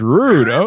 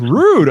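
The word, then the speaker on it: Røde: remember it all yesterday broadcaster it was rude it's rude okay okay oh i appreciate you letting me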